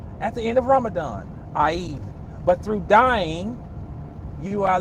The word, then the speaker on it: Eid: At the end of Ramadan, the celebration is called Eid. Eid. And Fanat. Listen, Eid, I-E-D. I know I ain't spelling it right, but that's the phonetic spelling of the celebration at the end.